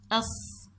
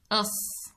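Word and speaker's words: صْ: ترسم السكون على حرف الصاد كما ترون هنا فوق الحرف، وتلفظ أص أص. إذن يسمى صاد ويلفظ أص.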